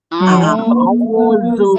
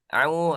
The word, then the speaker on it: أعوذ: Itu ada ain ya harus dibedakan. Hamzanya harus jelas. Nah, nanti kalau ada kesempatan yang talaki, nah jangan sampai bacanya gimana? A'udzu billah, au. Nah, jangan ya, harus jelas. Apanya? Hamzahnya.